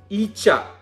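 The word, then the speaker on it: ഈച്ച: So the word we are going to learn with E is EECHA. EECHA is nothing but a fly. You know, the house fly and mosquito and all these are flies. So E with an EECHA is EECHA.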